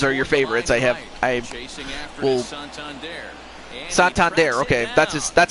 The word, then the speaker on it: Santander: Santander, okay, that's how you pronounce his name.